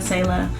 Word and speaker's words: Selah: I have a best friend named Kayla, and it just kind of rhymes with Kayla, Selah, though they're not spelled alike at all.